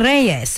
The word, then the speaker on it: Reyes: And this lady is Cynthia Reyes. I am giving the Spanish pronunciation.